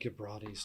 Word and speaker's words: Gibrani: And now it's our undead Gibrani's turn. Gibrani. I want to do a soft G.